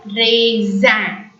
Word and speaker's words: raisin: A-I-A-I-N is the nasal sound which has to be pronounced as an. So raisin.